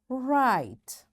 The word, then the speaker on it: write: It's before, give, hide, write. Yes, my dear children, have you noticed this letter E is there but we don't say it?